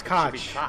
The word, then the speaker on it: Koch: they're wrong because they they pronounce their name wrong it's cotch it's cotch so they all wrong with something it's a cotch Brothers when you got